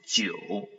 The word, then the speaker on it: 九: It is 九. So we divide the pinyin into two parts. The first part is ji, and then this IU is pronounced as you.